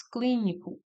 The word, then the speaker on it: clínico: No item B, nós temos clínico. Clínico. Novamente, cli é a sílaba tônica e é uma proparoxítona.